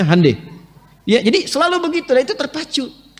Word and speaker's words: Hyundai: Hyundai itu dibacanya Hyundai.